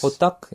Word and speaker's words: hotteok: Hotteok?